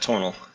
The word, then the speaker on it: Tonal: So can you tonel or tonel? I don't know how you pronounce it. First one's right. Tonal.